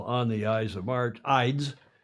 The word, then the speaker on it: Ides: Ides, not eyes.